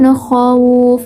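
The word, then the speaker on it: خوف: Nah, jadi membacanya min khawuf. Nah, dengan lembut ya, tanpa harus memaksakan.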